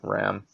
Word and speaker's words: RAM: Um, or Ram, sorry, not Rom, Ram before someone finds me and cuts my head off with a chainsaw cuz I got somebody's name wrong.